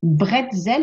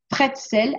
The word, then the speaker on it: bretzel: se prononce-t-il exactement donc on dit bretzel avec un B certains disent pretsel avec un P et bien les deux termes peuvent être utilisés pour désigner ces petits